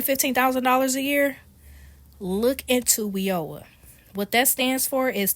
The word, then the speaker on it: WIOA: It's called WEOA. is spelled W io A.